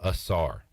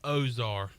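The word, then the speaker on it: Ausar: a stad to consider Ezra Asar and I'm gonna keep calling him that because that is what is on the uh pronunciation guide officially that I was handed when I did PA for ECU basketball earlier this season like a h z-a-r no Z s ah Ezra assar that was the official pronunciation I was given I'm hearing a lot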